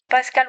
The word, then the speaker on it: Pascal: Pascal was French, so I know I say it right.